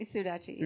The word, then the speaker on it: Sudachi: Sudachi.